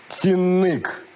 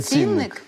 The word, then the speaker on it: цінник: шоці від того що правильно казати цінник а не цінникк цінник я відмовляюсь а